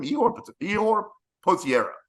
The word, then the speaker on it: Ihor Potieria: Ihor Potieria.